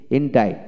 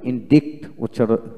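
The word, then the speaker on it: indict: তারপরে হলো ইনডে, ইনডাইট, ইনডাইট, এখানে ইনডাইট, এখানে আমরা কিন্তু ইনডিক্ট উচ্চারণ করার কথা ছিল না, ডিকশন থেকে ইনডাইট উচ্চারিত হয়।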